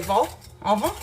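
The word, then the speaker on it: vol-au-vent: And then also, they don't pronounce the last consonant in words unless it's the same consonant that's in the word careful. So C, R, F, and L, they do pronounce it at the end. So that's why we say vol au vent.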